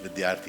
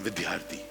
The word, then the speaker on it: Vidyarthi: day I'm very particular my name is Ashish vidyarthi it's not vidyarthi don't put the H